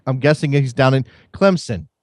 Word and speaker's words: Clemson: It's sounds like it's spelled. There's no Z's or I. It's It's Clemson.